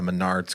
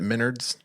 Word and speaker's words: Menards: was like reading a Menard's commercial ad and she pronounced it Minards Minards yeah oh no it was so funny Menards Minards I don't know people